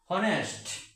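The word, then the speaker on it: honest: এমপির আগে এন বসবে অনেস্ট এই হল একটি কনসোনেন্ট এই হল একটি কনসোনেন্ট তা সত্ত্বেও তার আগে এন বসবে কারণ এইচটা লুপ্ত থাকবে এইচ এর উচ্চারণটা লুপ্ত থাকবে যেমন এখানে হনেস না হয়ে অনেস্ট না হয়ে উচ্চারণটা হবে অনেস্ট।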